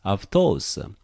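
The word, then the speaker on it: αὐτός: So you have to ke, aftos. You have to pronounce like this, aftos.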